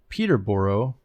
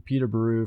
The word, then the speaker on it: Peterborough: I live in a village just outside the city of Peterborough, or pronounced with a buru at the end, not a boro.